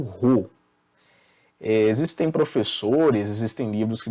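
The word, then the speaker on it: ρ: Essa segunda simbologia é uma letra grega, uma letra do alfabeto grego que se pronuncia como Rho.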